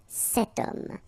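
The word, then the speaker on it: cette: it's masculine but still setum so now feminine word th woman no problem about that because we've got only one option for this at the feminine form it's set written like that set same thing here if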